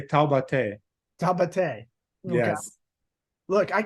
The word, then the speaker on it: Taubaté: Well, you butcher a little bit. You would say Taubaté.